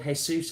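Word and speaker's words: Jesús: Jesus and it's like that's not how it's pronounced honey if I was cold if I was called hey soos I think I'd want people to call me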